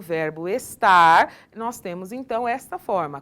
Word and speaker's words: estar: Ele tem o hábito de não pronunciar o R final das palavras. Então, no lugar de nós falarmos estar, nós temos o hábito de falar, parece que nós estamos falando está.